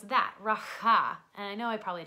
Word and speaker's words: Rapha: it right, but it's Rapha. It almost sounds very similarly, but it just has a little bit more of a huh to it. It's, you know, Hebrew, so you got the huh going.